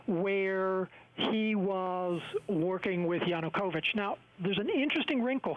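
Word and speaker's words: Yanukovych: uh and the head of this party now pronounce his name yanukovich yes yanukovich right have I said it correctly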